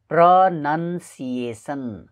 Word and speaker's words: pronunciation: यसलाई धेरैजना व्यक्तिहरूले प्रो नाउन सिएसन भनेर उच्चारण गर्छन्, तर यो गलत उच्चारण हो। यसको सही उच्चारण प्रनन्सिएसन प्रनन्सिएसन हुनुपर्छ।